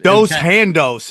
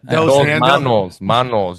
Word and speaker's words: dos manos: Dos handos. Is that how they say it in Spanish when you got 2 hands? Dos handos? Yeah, that's it. Dos manos.